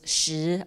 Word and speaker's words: 石: And the subject of stone or rock, which is pronounced as 石 in Chinese, is both the abstract concept, the